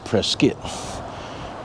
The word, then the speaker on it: Prescott: Today I want to talk to you about uh my visit to Prescuit, Arizona. Now, Prescuit is spelled Prescott, but pronounced Prescuit.